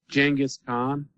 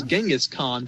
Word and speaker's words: Genghis Khan: oh you know who jingis khan who known as Genghis Khan but I've heard both pronunciations okay okay that one